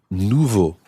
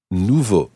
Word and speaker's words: nouveau: rule let's take to begin with the adjective nouveau Nouveau Anna can you repeat that please novel new